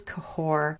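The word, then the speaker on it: Cahors: where mbec is particularly important and that is cahore in Southwest France it's not actually that far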